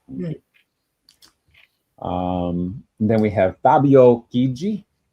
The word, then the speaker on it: Chigi: Then we have Fabio Chigi. The CH makes it a hard C sound when you followed by an I. That's why I pronounced it Chigi and not Chigi, in case you're wondering.